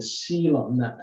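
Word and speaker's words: coelom: liquid waste from the sealant c-o-e-l is it we pronounce it as seal and it's a space and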